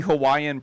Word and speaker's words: Hawaii: What is the Hawaiian pronunciation of the name of the state? Hawaii. Hawaii. The V for straight up. The V. Yeah. All the locals say the V, huh?